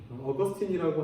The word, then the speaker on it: 어거스틴: 한국 교회에 원래 영어 발음으로 소개가 됐기 때문에 어거스틴이라고 하면 대부분 다 아시고요. 요즘은 이제 원래 라틴어 발음으로 발음을 해주는 추세이기 때문에 이름이 영어로 바뀌었죠. 아우구스티누스라고 하는 사람이고 어거스틴입니다. 어거스틴.